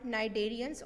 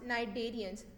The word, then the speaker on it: Cnidarians: Now, last class of invertebrates are cnidarians on page number 33. So, how it is pronounced? Cnidarians. Remember, C is silent, यानी कि आपने C को pronounce नहीं करना.